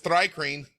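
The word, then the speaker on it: Thri-kreen: see here hold on it says dry cream all right it's sort of like thigh cream yeah very famous that's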